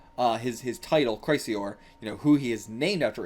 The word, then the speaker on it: Chrysaor: Be like Chrysaor, like sour, Chrysaor, something like that. Actually, seems like the correct pronunciation.